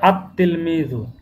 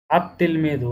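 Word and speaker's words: التلميذ: আত তিলমিজু, আত তিলমিজু। এখানে উচ্চারণের ক্ষেত্রে লামটা উচ্চারণ হচ্ছে না, যেন লাম এখানে দেওয়া নাই, কিন্তু লেখার ক্ষেত্রে লাম থাকবে, লাম উচ্চারণে হবে না, আত তিলমিজু।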